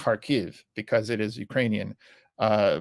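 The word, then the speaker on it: Kharkiv: way in Ukraine there was a resistance in harkov okay now it's pronounced harv because it is Ukrainian uh but there's a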